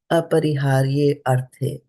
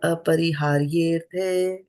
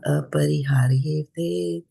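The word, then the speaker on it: अपरिहार्येऽर्थे: In the matter of arthe, and the A becomes silent because of the Sanskrit rules. So that's why there's a apostrophe here. So we don't have to pronounce it as aparihārye arthe, right?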